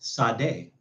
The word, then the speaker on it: Sade: It's pronounced Sade, according to Google.